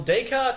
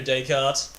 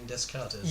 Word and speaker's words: Descartes: plane so on you Descartes Wherever You Are I believe I used to pronounce his name Discounters yeah yeah yeah yeah